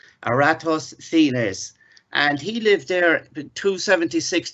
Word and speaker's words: Eratosthenes: Now it's quite difficult to pronounce this, but it's Eratosthenes, and he lived there 276 to 195 BC.